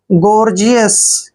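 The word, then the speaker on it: gorgeous: ई ओ यू एस देखिए जी ओ आर को हम गौर पढ़ते हैं क्या पढ़ते हैं गौर ठीक है और जी का उच्चारण हम ज करते हैं इ ओ को ई की मात्रा पढ़ते हैं और यू एस को यस पढ़ते हैं गॉर्जियस क्या पढ़ना है गॉर्जियस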